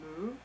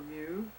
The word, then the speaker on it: Mu: sometimes abbreviated as the single syllable Mu, Uh-huh. or Mu, depending on who you speak to, and that it